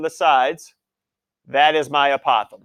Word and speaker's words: apothem: boy apothem all right apothem it is not opossum all right it is apothem all right I've also heard a Pithom as well I put